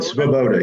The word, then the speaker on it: Svoboda: Did I pronounce that? You did, Svoboda, yes.